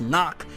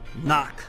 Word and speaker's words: Nacht: hell you pronounce it a lot of people say no it's german which should be pronounced knock well if it's knock